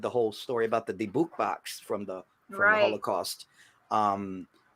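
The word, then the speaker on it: dybbuk: In fact, just the past few years they came out with the horror stories of the Dubik box, and how they say it, dibuk, like you said or whatever.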